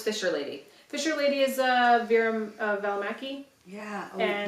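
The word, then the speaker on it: Vera Välimäki: Fisher Lady is Vera Valimaki. Yeah. Oh, And- you pronounced it so beautifully.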